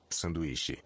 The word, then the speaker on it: Sanduíche: Sanduíche. Sanduíche. Sandwich. So this one, it's funny that Jake just brought it up. So this one is said as it's spelled.